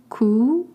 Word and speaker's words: Coût: Coût, C-O-U-T, means the cost. You don't pronounce the T at the end, and O-U makes the sound O.